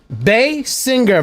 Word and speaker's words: Basinger: That's on top of learning how to make zombies today, we're learning how to pronounce celebrities' names properly. Gal Gadot, M. Night Shyamalan. I watched the Red Letter Media. Basinger.